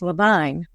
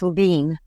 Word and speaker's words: Levine: Well, Levine, is often pronounced wrong as Levine, and because that's phonetic. Okay. But it's Levine.